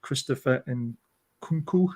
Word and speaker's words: Christopher Nkunku: So this guy from RB Leipzig, Christopher Nkunku, that's how you pronounce his name.